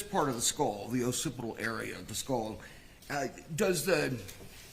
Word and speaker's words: occipital: The occipital fracture, am I pronouncing that correctly?